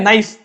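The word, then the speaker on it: knife: नाइफ। तो इसे तुम क्या के नाइफ पढ़ते हो? अरे भाई के साइलेंट होता है इसमें, नाइफ पढ़ते हो।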